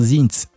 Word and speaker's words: sind: Vous allez voir que souvent dans euh à la fin des mots en allemand, lorsqu'il y a D, ça se prononce T. Voilà, la prononciation là-bas c'est T. Donc wir sind.